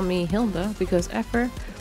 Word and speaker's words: Effer: call me Hilda because Effer rhymes with heifer and I'm not a cow.